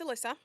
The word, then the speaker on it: Alyssa: It's Alyssa.